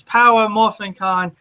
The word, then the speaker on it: Power Morphicon: out there um yes we've been missed pronouncing it because I keep forgetting the power its power morphicon that was my fault